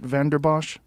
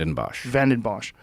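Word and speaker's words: Vanden Bossche: Geert Vanderbosch? Am I Geert saying it correct? Vandenbosch.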